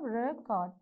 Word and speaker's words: record: on the first syllable, because all nouns and adjectives, the stress marks will be on the first syllable. In case if the same word is given, and if it is given verb, then all verbs, the second syllable you have to give the stress mark.